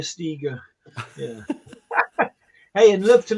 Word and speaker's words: Steger: It's Steger, and they call Steiger, Iger, Seeger, even as in Bob. Steger, yeah. I think that was Steger as in eager Steger.